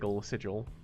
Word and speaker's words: sigil: I know it's pronounced sigil, but whenever I read it now, I always think of Matt Mercer mispronouncing the word sigil.